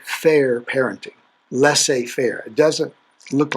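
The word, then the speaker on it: laissez-faire: name that i've had to work on to pronounce it's let's say fair parenting la say fair it doesn't look like lasse but that's how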